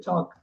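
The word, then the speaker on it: chalk: வேர்டே வித்தியாசமா இருக்கும் அது தனி கிளாஸ் ஒன்னு எடுப்போம் டிரன்ஸ் பெரிய டிரன்ஸ் இருக்கு இங்க பாருங்க சூப்பர் சூப்பர் சாக்னுதான் படிக்க எந்த காலத்துல சால்னு சொல்லக்கூடாது சாக் சூப்பர் கிறிஸ்மஸ் கிறிஸ்மஸ்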